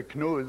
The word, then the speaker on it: Knud: It's rather hard to pronounce because it goes from the back of your throat to the front of your mouth. Just try to say Knud with a soft D.